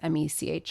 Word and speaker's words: Mech: It's Mech. I think you pronounce that Mech.